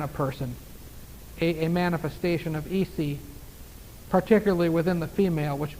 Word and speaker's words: Isis: We say it Isis, I-S-I-S, pronounced Isi. They would pray, in their homes, outside.